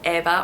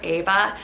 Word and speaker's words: Eva: Over there, it would almost exclusively be pronounced Eva or Ava. In the US, it's pronounced as Eva a lot. I'm not sure why. I definitely prefer that original Eva pronunciation.